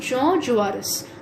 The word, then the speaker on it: Jean Jaurès: It's pronounced Jean Jaurès, the most respected and top leader of the socialists.